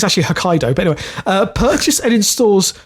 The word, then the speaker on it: Hokkaido: I think it's actually Hokkaido, but anyway.